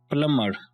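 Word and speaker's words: plumber: यहाँ पर B silent है, इसलिए आपने बी को नहीं पढ़ना और इस वर्ड को आपने पढ़ना है प्लम्बर, प्लम्बर।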